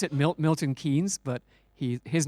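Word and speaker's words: Milton Keynes: canes since we're in Milton it's OD we pronounce it mil Milton kees but he his name is pronounced kanes even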